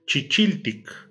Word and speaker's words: chichiltic: Por ejemplo, chili, que significa chile cuando ya está rojo, se duplica la primera sílaba y se agrega tic. Chichiltic, lo que es como el chile, es decir, el color rojo.